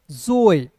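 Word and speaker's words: joy: रूप में हो जाएगा स्वय जोए क्या पढ़ेंगे जोय फिर देखिए एल ल ओ का उच्चारण औ के रूप में वाई ए का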